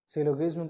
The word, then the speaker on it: syllogism: कई सारे लोग सिलोगिज्म प्रोनाउंस करते हैं। आपको जो अच्छा लगे आप प्रोनाउंस कर लो।